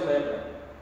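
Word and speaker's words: λέπρα: No grego é lepra mesmo. A palavra lepra é lepra mesmo lá. Se pronuncia lepra.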